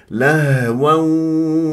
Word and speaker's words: لهوا: ل غلط دينهم لهوم شوف الها باهتزاز الاوتار الصوتيه تتجلى الصفات في الحروف الساكنه لهو هكذا الهاء هنالك فيديو اربع دقائق تدرب على نطق حرف الهاء حتى تشوف الميكانيكيه شلون